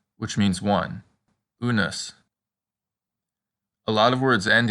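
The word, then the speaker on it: unus: rude and put a good practice word is unes which means one unes a lot of words end in us and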